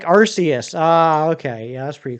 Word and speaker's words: Arceus: Yeah, Arceus makes the most sense to me. So it rhymes with Deus, the Latin word for God. Thank you to whoever just subscribed.